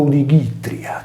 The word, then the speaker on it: Odigitria: Il nome Itria è inserito nel più antico Odigitria, pronunciato Odigitria, che significa Nostra Signora della Guardia.